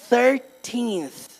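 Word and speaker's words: thirteenth: Olha, mais com TH ainda, né? Tem TH no começo e TH no final. 13th.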